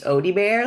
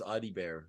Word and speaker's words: Audibert: and French but it in French it's Odie bear like ODI like Garfield and Odie and bear like a bear I thought it was AI bear is kind of what